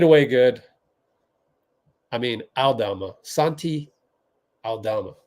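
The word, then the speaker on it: Santi Aldama: good I mean Alama Santi Alama I believe is how you pronounce that he's solid I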